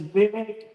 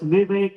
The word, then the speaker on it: Vivek: It is Vivek rhyming like cake. So it's Vivek like in cake.